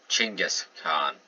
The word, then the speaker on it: Chinggis Khan: descendant of Genghis Khan, or Chinggis Khan, they pronounced his name, but still.